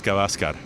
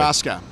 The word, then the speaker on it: Gavaskar: You don't lean on any you don't lean on any of the syllables. They're all equal, so it's Gavaskar.